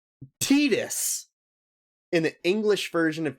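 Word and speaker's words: Tidus: by the character indicate that it is pronounced tetus in the English version of Kingdom Hearts 2 no no I I have heard Titus is more tetus tetus is the official pronunciation yeah tetus is the official pronunciation honestly I did not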